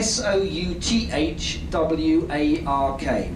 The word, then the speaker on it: Southwark: bridge painted green is called Southwark yeah sou th w a RK we pronounce it Southwark we drop double use all over the place yeah Southwark bridge and